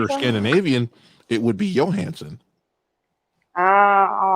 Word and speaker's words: Johansson: she's your hand or scandinavian it would be johansen all right all right oh she's she's rushing